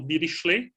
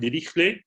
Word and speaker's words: Dirichlet: So I'm using the French pronunciation of Dirichlet. I know that other people prefer the German pronunciation like Dirichlet, but let me stick with the French pronunciation because I have always used it.